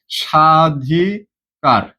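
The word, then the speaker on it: স্বাধিকার: সাধিকার কি উচ্চারণ করতেছি সাধিকার দেখতো এখানে দন্তস একটা ব আছে না? এখানে দন্তঃস, দন্তস্যর সাথে একটা কি আছে ভাইয়া? দন্তসের সাথে একটা ব আছে। কিন্তু আমরা কি এখানে ব উচ্চারণ করতেছি? ব আমাদেরকে লিখতে হয় কিন্তু আমরা উচ্চারণ করতেছি না।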